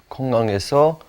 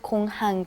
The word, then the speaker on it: 공항: 공항에서 what is the word for 지갑. 지갑. 지갑을 잃어버린 적이 있어. Right, and be careful with 공항 too. The pronunciation is 공항. 공항.